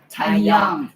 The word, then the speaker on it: TIEXYOUNG: So that's why you can actually check the TIE account, which is the name is spelled as TIEXYOUNG, Taiyang. Thai X Yang.